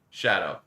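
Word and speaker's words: Tsadou: T-S-A-D-O-U. That's just Shadow.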